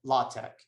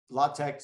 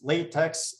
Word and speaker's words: LaTeX: i just want to mention something about um latex so um latex so this is you might think it's latex but in math we call this either latex